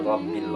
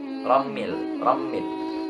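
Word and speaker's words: رَبِّ: Pengucapan ba di lafaz rabbi itu biasanya terbawa ke huruf mim. Rammil. Banyak itu ya. Perhatikan. Rabbil. Atau semisal rabbil. Tidak rabbil tapi rabbil.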